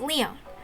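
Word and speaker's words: 理御: It's written as this, but pronounced Leon. I guess it's a bit strange for a Japanese name.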